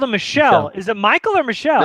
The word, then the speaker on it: Michel: It's Michelle, you uncultured swine. I'm really bad at pronunciation.